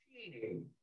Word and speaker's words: Cheney: He spelled it the same way our recent vice president spelled his name, but he pronounced it Cheney. Because of Virginia pronunciation.